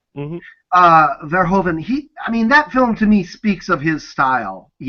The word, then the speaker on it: Verhoeven: sound like a complete uneducated fool, but Paul Verhoeven, am I pronouncing his name right? Mm-hmm. Verhoeven, that film to me speaks of his style, very much.